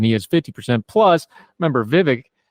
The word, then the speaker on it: Vivek: is 50 plus remember Vivek rhymes with fake is in this race